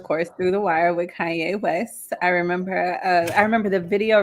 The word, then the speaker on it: Kanye: So yes, and I remember I didn't even know how to pronounce his name, so I used to call him Kane West.